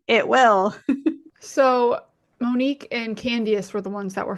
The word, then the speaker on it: Candiace: At first, I thought you were talking about Candy Burris and just not pronouncing her name right. Yes, Candiace.